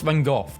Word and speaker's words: Van Gogh: Americans saying Van Gogh is pronounced Van Gogh. British saying it's pronounced Van Gogh. It's a Dutch name, and Dutch pronounce it as Van Gogh.